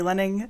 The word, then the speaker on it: Lening: the lawyers happy hi my name is lenning thanks for attending today we'll be talking about